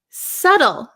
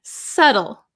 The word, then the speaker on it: subtle: that's an easy one subtle this one's a little bit difficult to explain subtle subtle silent be so delicate or precise